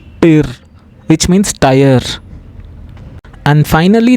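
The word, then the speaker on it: Tür: TU double dot R, tir, which means tire.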